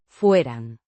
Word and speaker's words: fueran: Fueran. Means were, subjunctive mood, third person plural. Pronounced fueran.